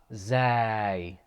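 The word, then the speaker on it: زاي: we say zane ziad it's basically a z in english just an english z za zay the next one is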